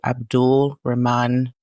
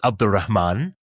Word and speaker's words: Abdul-Rehman: about our guest today, Abdul Rahman. Am I saying your name correctly? You are. So if pronounced in quote unquote proper Arabic, it would be Abdurrahman.